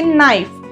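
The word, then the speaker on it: knife: words जे confusing आहेत की नाईफ नाईफ ची स्पेलिंग स्टार्ट होते के पासून पण आपण प्रोनाऊन्स करताना न एन न चा साऊंड युज करतो कारण ह्याच्यामध्ये के हा सायलेंट आहे असे वर्ड मुलांना कन्फ्युज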